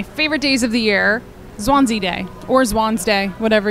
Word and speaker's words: Zwanze: one of my favorite days of the year, Zwanze Day, or Zwanze Day, whatever your preferred pronunciation of the word is.